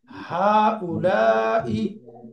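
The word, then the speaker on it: هؤلاء: এই দুইটারই প্লুরাল হবে হা উলা হা উলা উচ্চারণ কি? হা উলাই হা উলাই বহুবচন তো বহুবচনের উদাহরণ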